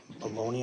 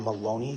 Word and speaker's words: Maloney: Yes, I went back to speak with uh the U-Haul employee, Briana Baloney, I believe that's how you pronounce her name. Brianna Maloney, I believe it's M A L O N E Y.